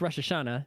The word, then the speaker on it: Rosh Hashanah: Los Tacos to morono roshashana correctly pronounced Rosh Hashanah is like top holiday